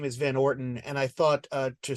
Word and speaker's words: Van Orton: the family name is Van Orton and I thought uh to speak to the literary references especially the way that certain characters pronounce it it it sounded a little like van Wharton and I was like